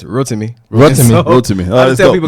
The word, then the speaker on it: Rotimi: In America, it's Rotimi. In Houston, in America, it's Rotimi. In Nigeria, it's Rotimi.